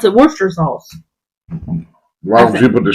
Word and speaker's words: Worcestershire sauce: You pronounce it Worcester sauce.